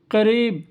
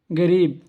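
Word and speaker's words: قريب: আরো একটা শব্দ আছে আরবরা বলে কারিব অথবা কারিব এই দুটোই একদম শুদ্ধ কারিব অথবা কারিব অর্থ নিকটে বা কাছে আর আমরা বলি এটা হলো অশুদ্ধ অর্থাৎ ভুল আমরা বলি কি গরিব এটা হলো ভুল গরিব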